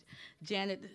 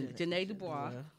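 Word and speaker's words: Ja'Net DuBois: So rest in peace to Janet or Janae. Her name's pronounced Janae Dubois.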